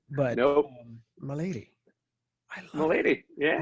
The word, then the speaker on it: Melady: your last name because i keep wanting to say melody and that's not how you say it get out of town